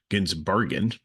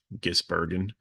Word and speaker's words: Gisbergen: Have and I saying his name wrong on the video, and thank you for those who correct me and educate me on this. So Ginsbergen, Gisbergen, um, finished second, but then